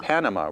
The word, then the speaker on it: Panama: English, how do we pronounce this word? In English, the country is Panama. Panama.